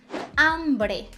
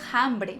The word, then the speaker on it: hombre: dele é diferente a mas ele não tem som então eu vou dizer ombré hombre não tem som o som vai sair o som da vogal que vem em seguida nada dizer hambrem muita gente pensa isso